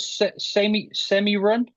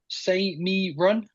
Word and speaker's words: See Me Run: You've got a nice horse called Semi Run. See Me Run. Yeah. See Me Run, of course. It's the way it's spelled.